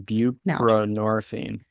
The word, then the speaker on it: buprenorphine: Can you help me pronounce that one? Yeah, it's naltrexone and buprenorphine.